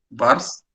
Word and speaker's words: Schwarz: Recuerden que esa W se pronuncia como B corta, se anota así. Es Vars, ¿sí? RZ, termina así.